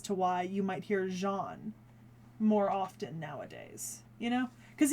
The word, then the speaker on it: Jeanne: say, oh, yeah, it's Jeanne. That's her actual name in French. Joan is the anglicization of it.